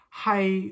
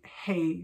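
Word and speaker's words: 係: So hai, which is to be in Cantonese, so ngo hai Grace, I am Grace, she would say hey, so she would say ngo hai and then her name, so hai would be hey. So they pronounced it slightly differently.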